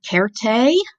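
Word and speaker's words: certē: cared a cared a you can hear also that I'm pronouncing my C's like K's that is also a Latin thing cared a means certainly so spell berry much the same but that C sounds like an S in English certainly or surely derivatives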